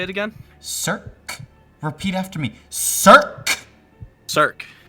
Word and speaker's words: Cirque: No, I'm just not good at pronouncing stuff. How do I say it again? Cirque.